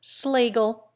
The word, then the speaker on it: Schlegel: So with SCH. Schneider becomes Snyder. Schlegel becomes Schlegel, and Schluter becomes Sluter.